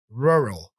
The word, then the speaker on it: rural: here about that word the difficulty here is the combination of r at the beginning and in the middle of the word you see this R